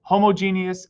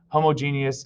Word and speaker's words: homogeneous: The two types of mixtures are what are called homogeneous and heterogeneous, or sometimes you hear homogeneous and heterogeneous. It's kind of pronounced both ways, so whichever you prefer is fine.